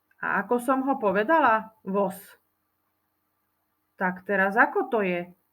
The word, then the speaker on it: voz: ukázať na rovnakej ukážke píšeme jeden voos počujeme tam ale jeden voz vyslovujeme to so s píšeme to so z Nezabudol si ako si